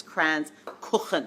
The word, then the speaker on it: Kranzkuchen: few years trying to get this the pronunciation right it's kranz cookin you've got to get that rush got it so I